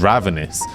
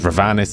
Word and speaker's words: Ravenous: second generation of vtubers ravenous which I really unfortunately mispronounced as ravanis in my short cuz I'm opid this